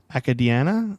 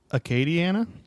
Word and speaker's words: Acadiana: you can donate the United Way of Academia I think is how you say it is Louisiana Acadiana okay Diana Acadiana Acadiana